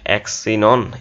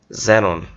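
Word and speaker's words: xenon: হ্যাঁ, তারপর লাস্টটা যেটা আছে সেটাকে আমরা কি বলবো, অ্যাক্সিনন এরকম, নাকি জেনন, যেহেতু অলরেডি আমরা এটার উচ্চারণটা শিখছি, এটা কি বলছি জাইলোফোন। হ্যাঁ, তাহলে এটা কি জেনন, তাহলে এক্সের উচ্চারণটা কিছু কিছু ক্ষেত্রে বৈরাগ্য জ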